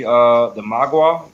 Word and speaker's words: Mogwai: They're gonna get more into the Magua. Did I pronounce it right? Mogwai? Yeah, Mogwai.